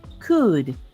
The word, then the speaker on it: could: okay excellent but it could remember that L is silent good good could determine